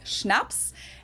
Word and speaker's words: Schnaps: In German, we spell it like this and say Schnaps, and it means hard liquor.